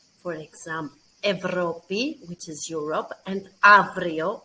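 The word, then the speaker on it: Ευρώπη: how we pronounce them the first option is that we should pronounce them as av and ev for example evropi which is europe and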